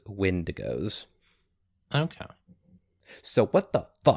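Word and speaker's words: Windigo: uh spelled with an e, but I do believe that canonically it is wind goes.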